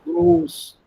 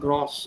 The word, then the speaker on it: groß: So the same O sound should come here in gross. O, gross, not gross.